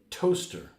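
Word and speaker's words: Towcester: of Roman origin here we have to Chester pronounced Toaster What or Biser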